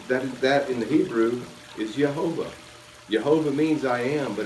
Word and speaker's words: Yehovah: Now in the Hebrew, again, the word, it's written Yod-Heh, Vav-Heh over 6,000 times, pronounced Yehovah, and it means I am.